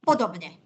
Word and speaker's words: podobne: I should say correctly podobne. Podobne. Without Yeah. the long Soft vowel? Yes, the marks. No length mark, no length mark, and not palatalization mark, not this V-shaped over N, but we shall have that later, okay? Yes. This is palatalized or soft, not N, but N, because of E, and E is a front vowel, okay?